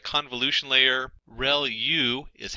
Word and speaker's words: ReLU: ReLU is how that is pronounced, and that's the rectified linear unit.